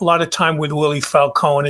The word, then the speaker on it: Falcon: the key players in this story including Willie Falcone that's the correct pronunciation Falcone I did a lot of a lot of time with Willie Falcone it's it's basically his story H it's it's